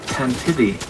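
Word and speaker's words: Tantive IV: Yeah, apparently you pronounce it Tantivy, like this archaic word for galloping.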